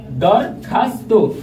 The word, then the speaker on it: দরখাস্ত: Viewers, পরেরটি লক্ষ্য করো, দরখাস্ত, দরখাস্ত বানানে উচ্চারণ রীতি দরখাস্ত। ভিউয়ার্স, একটু লক্ষ্য করো, এখানে দর থেমে গেছি তাই নিচে হসন্ত, খাস থেমে গেছে হসন্ত, তয়কারে তো, দরখাস্ত।